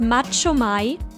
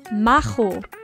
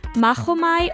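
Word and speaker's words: Machomei: pronounce this name as macho mai to make it sound more like macholo but in this case the first part is actually supposed to be pronounced as mahu that's because if pronounced correctly mahomai also sounds the same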